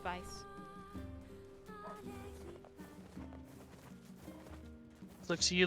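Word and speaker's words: Weiss: So It's You don't need to roll your R's or anything, just Vice.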